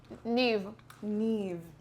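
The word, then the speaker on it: Niamh: Uh um ne bright, radiant, or luminous.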